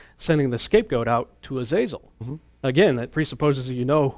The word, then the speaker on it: Azazel: one of them is called Azazel sometimes pronounced asel or their number of different pronunciations but but he seems